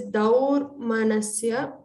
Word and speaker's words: दौर्मनस्य: Pronounce the विसर्ग दौर्मनस्य Remember, this is dau, not do or do. It is daur manasya angamejayatva.